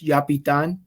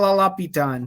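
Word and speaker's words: Llapitan: Everybody, it's people forget to pronounce it as Spanish, so it's Yapitan. The double L. Wow, I was way off. At least it was. I get people going la pitan, so it's like, it is what it is.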